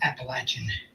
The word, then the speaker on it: Appalachian: Trail before I guess the proper pronunciation is Appalachian I always thought that sounds kind of funny it's always an Appalachian